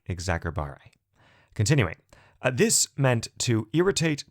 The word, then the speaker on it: exacerbate: oh just fyi in classical latin the letter c was never soft like an s as it often is in english rather it was always heart like a k therefore again this verb while spelled with a c technically would have been said something like exacerbate continuing this meant to